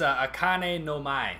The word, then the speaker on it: Akane no Mai: You mind pronouncing Episode 5? It's Akane no Mai? It's Akane no Mai.